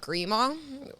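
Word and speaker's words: Grimaud: my grandma's nephew somewhere somebody somewhere my family great guy has a place in the south of France uh that he let us use in a place called called grea which is spelled g r i m a u d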